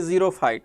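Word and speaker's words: xerophyte: तो ले जी नेक्स्ट हम बात करते हैं ज़ीरोफाइट, ठीक है। एक्स साइलेंट है, PHYTES, ज़ीरक कंडीशन ज़ीरोफाइट्स, ठीक है। अब एक्स इसमें साइलेंट है, एक्स आवाज़ दे तो रहा है बस थोड़ी सी। ज़ीरोफाइट साइलेंट से वर्ड ज़्यादा है।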